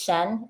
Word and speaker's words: Cien: Um by the way, it's Shen. You just just in case you're having a hard time reading my name, everyone. Um that is how you pronounce the name.